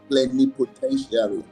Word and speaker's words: plenipotentiary: It is pronounced plenipotentiary. Plenty, po, ten, sharing, like tertiary.